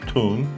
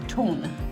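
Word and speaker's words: Tulln: Tell that cab driver to take you to the town of Ton." Ton. T U L L N is how you spell it.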